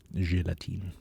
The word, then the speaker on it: Gelatine: out gelatin gelatin all right so they don't pronounce the e at the end but in German you do gelatine at least you never